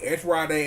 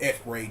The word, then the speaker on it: ESP Ra.De.: And I used to pronounce that game S.R.A. and loved it to death until I learned it was pronounced S-Raid years later.